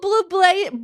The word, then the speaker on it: Bublé: Michael Bublé. Michael Bublé. That's how you pronounce his name.